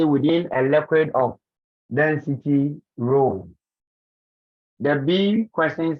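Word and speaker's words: rho: another great example and that's how we pronounce rule r h o so we have to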